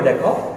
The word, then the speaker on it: the: এর কারণটা হচ্ছে তোমরা একটু লক্ষ্য করে দেখো, অ্যাপলের শুরুতে এ ছিল, এ হচ্ছে আমাদের একটি ভাওয়েল, তাহলে ভাওয়েলের পূর্বে কি হবে?